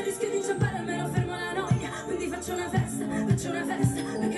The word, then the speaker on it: la noia: It's la noia. Yeah. I knew I'd be pronouncing this stuff wrong.